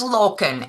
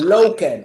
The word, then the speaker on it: Lokken: Is the last name pronounced properly? It's Lokken, actually. Lokken.